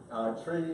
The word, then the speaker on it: trie: So tree is pronounced after the middle syllable of the word retrieval. So it's tree. People will often say try because it's often thrown